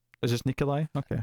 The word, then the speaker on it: Nikolaj: waldo i think it's nikolai is this nikolai okay i think it's like a silent j slash almost like an eye i don't know all